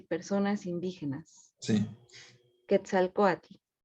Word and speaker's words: Quetzalcóatl: Quetzalcóatl. Quetzalcóatl, El segundo, Huitzilopochtli. Huitzilopochtli. Perfecto, lo pronunciaste mejor que yo.